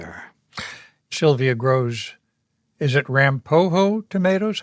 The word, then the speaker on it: Ramapo: Ramapo, I think, is the way I pronounce it in my head. And I believe that's what they said at Rutgers, where those tomatoes were actually developed originally.